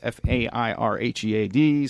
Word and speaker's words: Fairhead: That's Fairhead, spelled like it sounds, on Facebook as well.